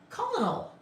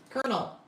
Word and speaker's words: colonel: Um, kernel as opposed to colonal. Colonel. Colonel. But you have a kernel of corn, but it's spelled totally differently. K E R N L. So kernel colonal Y. Why do we have Why can't it all just be kernel spelled like the corn kernel instead of the colonal kernel?